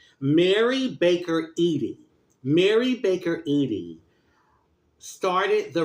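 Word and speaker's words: Mary Baker Eddy: Mary Baker Edy.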